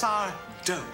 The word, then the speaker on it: Sardo: It's Sardo. No mister, accent on the do.